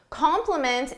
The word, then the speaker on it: compliment: These two words sound exactly the same in pronunciation. It's spelling that is different but they have different meanings compliment.